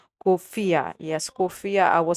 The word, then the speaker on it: Khufiya: on on your location and it's actually called kofia yes kofia I will spell it out basically is k h u f